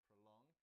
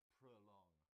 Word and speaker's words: prolong: A note on the pronunciation of this word, prolong. It's got 2 syllables. The stress is on the second, and so the O in the first part sounds like prolong, prolong.